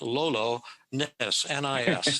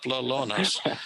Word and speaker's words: Lolonis: p-h-i-l-l-i-p lalonis l-o-l-o that's lolo ness nis lellones so google that that